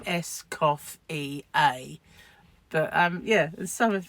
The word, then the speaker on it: Escoffier: to tell her that escoffier is is pronounced SC cof EA but um yeah some